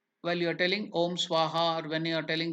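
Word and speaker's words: स्वाहा: it what is the how is it pronounced in tiban language SOA so what is the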